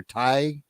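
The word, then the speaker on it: Tigh: So those of you remember Commander, how's it pronounced? Teague or Ty?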